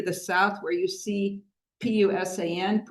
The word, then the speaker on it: Busan: And our troops were pushed back all the way to the South, where you see P-U-S-A-N, Pusan. We usually pronounce it Busan because of the Korean alphabet.